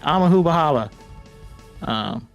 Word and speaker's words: Amahumahaba: I really had to open up the stream to look at how to pronounce it. Oh, you did get it. Awesome. Yeah. All right. Amahumahaba.